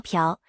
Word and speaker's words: 朴: 朴作姓氏时读作朴，这是朝鲜族的常见